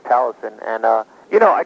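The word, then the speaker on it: Taliesyn: record and you know I never knew how to say the book of Talison. I used to think it was Talionism or something but now I know it's Talison.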